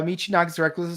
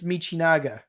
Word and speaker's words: Michinaga: late to learn uh Michigan was totally absolutely stupid yes it was but again it's michinaga he's Kamen Rider buff because